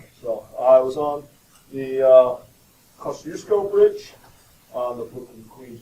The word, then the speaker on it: Kosciuszko: It's a Kosciuszko Bridge. It's pronounced Kosciuszko.